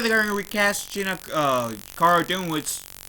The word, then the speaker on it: Cara Dune: Or Cara Dune, I think it's pronounced Cara Dune.